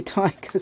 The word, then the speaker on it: Taiga: her name must be tiger sorry lovely name it's spelled t t a i g a finish name what a lovely name and I found out it's pronounced tiger so that's amazing is